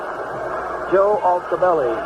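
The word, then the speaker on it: Altobelli: How do you pronounce that fellow's name they played for, now managing the Giants? Altabelli? Yes. Joe Altabelli.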